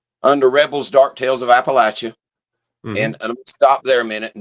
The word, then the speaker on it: Appalachia: It's a Native American term, and it's pronounced Appalachia.